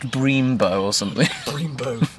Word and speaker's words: Brembo: How's it pronounced? Brembo or something? Brembo. Bremboe.